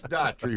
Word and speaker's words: Daughtry: Chris Daughtry, right? The guy made it big. So your name is pronounced just like his, right? Yes, it is. That's correct.